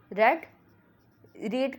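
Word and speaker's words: read: रीड की जो third form होती है वो रेड होती है, लेकिन स्पेलिंग में हम इसको रीड ही लिखते हैं, लेकिन प्रोनाउंसिएशन में ये रेड होती है।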